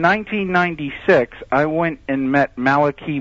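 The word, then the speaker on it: Malachi: I went and met Malaki Martin sometimes pronounced Malai Martin on the radio uh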